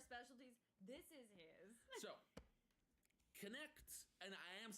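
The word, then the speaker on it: Knecht: silence it's k-n-e-c-h-d but you do pronounce both the K and the N because German is horrible correct um except make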